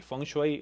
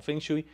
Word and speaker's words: feng shui: podríamos contemplar lo que los chinos llaman el funksway o que se pronuncia acá por muchas personas como feng shui que es acomodar correctamente